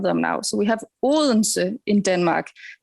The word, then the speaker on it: Odense: So we have Odense in Denmark. It's pronounced in Danish. It's an impossible pronunciation, but Odense, you could also say, it is actually an old word, Odin's we.